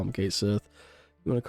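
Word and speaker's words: Cait Sith: His name is pronounced as Kate Sith for Rebirth.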